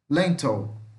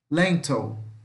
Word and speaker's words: lentil: Então aqui ó, escreve com I, mas é som de ou, tá? Lentil. Lentil. Não é lentil, não. É lentil. Lentil.